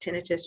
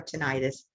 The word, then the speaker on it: tinnitus: ringing in your ears it can be pronounced tinnitus or tinnitus you hear it both ways but if you have